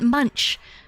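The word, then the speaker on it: Munsch: Robert Munch, the the children's book.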